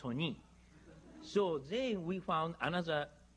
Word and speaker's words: Sony: so nice sony but if we write as eson i american pronounce sonai japanese pronounced sony so they we found